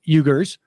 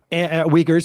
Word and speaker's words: Uyghurs: uh rights violations targeting eugers um uyghurs i should say and uh it's uyghurs by the way yeah it's it's it's spelled with the you but it's uyghurs um i don't think